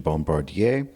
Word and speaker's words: Bombardier: one of the original Bombardier French pronunciation Bombardier snow snow cats they are presently being restored and will be used for special events for the club these were a gift from the Bombardier family to to the